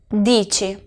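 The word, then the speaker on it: dici: y yo digo tu dicho y fijaos bien a la pronunciación la c y la i es chip si no os acordáis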